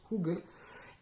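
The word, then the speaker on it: hygge: cette culture de HUG qui s'écrit h y g g donc vous avez dû voir passer ça se prononce hou et c'est un espèce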